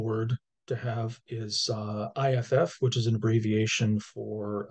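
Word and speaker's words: iff: to have is uh if which is an abbreviation for uh if and only if is just pronounced if um this is not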